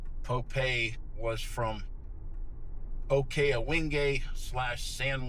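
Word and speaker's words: Popé: by a guy named Pope spelled like pope but an accent on the e. Poe was from Oka Awing San Juan Pueblo and he was the uh leader of the revolt.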